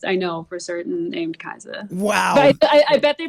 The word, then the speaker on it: Kiesza: So there is someone in the Philippines I know for certain named Kiesza. Wow. But I bet they pronounce it different.